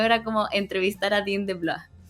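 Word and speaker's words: DeBlois: Oye, Coti, quería decir que un par de años después de estar entrevistando ¿cómo se pronuncia? ¿De Blois? ¿De Blois? De Blois.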